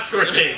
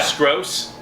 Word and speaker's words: Skroce: I'm really sorry if I butchered your name there. No, I think it's Scorsese. I was gonna It's say. not Scorsese. Yeah. Didn't he start doing comic books? Yeah. Skroce.